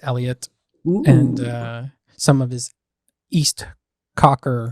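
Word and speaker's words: East Coker: Eliot and some of his East Cocker or Cooker or whatever you pronounce it. It's East Cocker.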